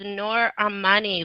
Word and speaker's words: Noor Armani: That is Noor Armani, like the artist.